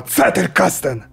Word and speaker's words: Zettelkasten: Zettelkasten! Ты все правильно сказал в конце, но вначале с C начать. А Zettelkasten!